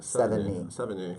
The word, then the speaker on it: Sevigny: I think it's the number 7 and then like knee, like your kneecap. Sevigny.